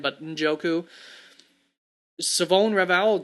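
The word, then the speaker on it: Shavon: the N but njoku savone raval just pretend the H does not exist at all apparently is how it is pronounced and it's an a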